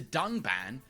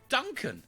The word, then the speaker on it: Dunban: disagree with, and then calls the character Dunban Duncan. This time, however, they did edit out the mistake. But even in the re-edit, he still pronounces the name wrong, with a horrendous drop